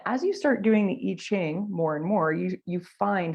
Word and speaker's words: I Ching: You can see it's written with an I, but it's pronounced with an E.